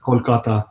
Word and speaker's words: Kolkata: And I like the way that you pronounce Calcutta. You know, the way that I pronounce is, of course, like most non-Bengalis, but we call it Kolkata, all right?